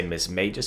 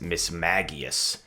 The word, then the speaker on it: Mismagius: anime and in the anime they called it miss maggios um i've heard some people say miss mages but it seems like the correct pronunciation is miss maggious and this thing is very interesting i'm looking